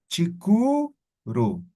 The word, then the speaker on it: chikuru: Entonces voy a colocar la última vocal y a esto lo voy a colocar diéresis. Ahora es chikuru, que sigue significando mediodía. ¿Quedó claro? Chica, uru, lo he convertido en una sola palabra utilizando en la vocal la diéresis. Chikuru.